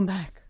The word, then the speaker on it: Maeck: How do you say his last name? Maeck. Oh, Mac.